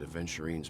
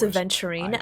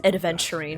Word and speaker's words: Aventurine: Also, can I just say, it's a little just pet peeve of mine when people pronounce Aventurine as Adventurine.